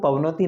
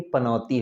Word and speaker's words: पनौती: pavnauti अर्चना बोलती है पहली बात तो pavnati नहीं पनौती होता है कुंडली में जब